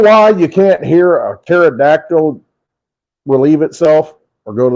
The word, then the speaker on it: pterodactyl: you can't hear a pterodactyl relieve itself or go to the bathroom? Why can't you hear the pterodactyl when it goes to the bathroom? Why don't you hear it? Because the P is silent.